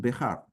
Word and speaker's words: Behar: And so it can have it has nothing to do with the surname, which is pronounced Bihar.